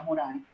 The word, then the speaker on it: Morin: una cita de Edgar Morin, o Morin, como le dicen algunos, yo creo que como es francés se pronuncia Morin.